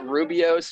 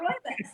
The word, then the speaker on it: Rooibos: It was like a Rubios or something. Rooibos. How do you say that? Rooibos.